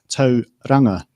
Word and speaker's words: Tauranga: So in this case, the correct pronunciation is Tauranga, and Tauranga is halfway there.